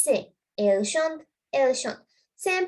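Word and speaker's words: chantent: Elle chante, elle chante. Same pronunciation. Pronounce කරන විදිය එක සමානයි, but ලියනකොට වෙනස්. Okay, so this is not chanton, it's chante. Chante. This NT is silent.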